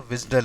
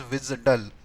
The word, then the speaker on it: WSDL: Or where is the wizdull over here. This is also pronounced as visdull. Okay. WSDL it is pronounced as visdell. pronounced as say vizdull. WSDL pronounced as WISDL right so you will ask